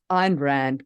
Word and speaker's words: Ayn Rand: rhymed um and and how do you pronounce the name Ayn Rand Ain rant Ein Rand Ein Rand good kind was an iron Rand